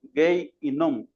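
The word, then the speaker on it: Gehinnom: Gay yom. Así se así se pronuncia en hebreo. Gay yom. Hasta lo apunté en un cuadernito por ahí la palabra gay, porque a veces le olvida uno. Gay y nom, así se pronuncia en el hebreo.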